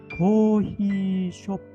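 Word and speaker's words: コーヒーショップ: 자, 그래서 발음을 할 때는 박으로 해야 되니까 반드시 길게 고히쇼프, 고히쇼프, 고히쇼프 이렇게 발음을 해야 되는 것입니다.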